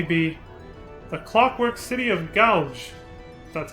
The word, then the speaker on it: Goug: what can only be the clockwork city of gouge that's how you pronounce it i remember that place that place